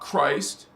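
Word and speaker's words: Kryst: When you hear me on Christos Avatar speaking about Christ, first of all, we spell it with a K. K-R-Y-S-T. Christ. It's the sounds exactly the same, just spelled different because it's a different language.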